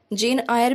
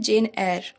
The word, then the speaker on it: Jane Eyre: जेन आयर भी कुछ लोग प्रोनाउंस करते हैं, कुछ लोग प्रोनाउंस करते हैं जेन एयर। It's depend on यू कि आप उसे क्या प्रोनाउंस करेंगे।